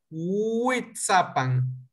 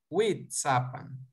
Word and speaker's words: Huichapan: salga más fácil pronunciarlo a mí me sirve imaginarme que la w es una y larga una alargada huichapan huichapan witsa pam y tenemos la guía